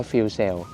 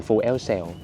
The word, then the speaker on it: FuelCell: Sell หรือ Fu cell มี เพื่อน ๆ บอก ว่า ให้ อ่าน ว่า fel Sell ไม่ อ่าน flu Cell ให้ อ่าน ว่า fel Cell โอเค ผม ก็ ติด